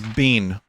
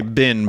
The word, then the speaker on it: been: I think as an American, it's important to understand that B-E-E-N is bean. We Americans say bin, but like everywhere else, like, I say 007, where have you been?